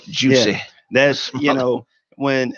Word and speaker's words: Jussie: You said it right, Juicy.